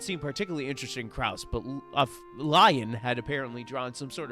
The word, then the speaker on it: Lion: even will stared at Lion's face wearing a confused expression I'm not saying Leon it's lion if they wanted Leon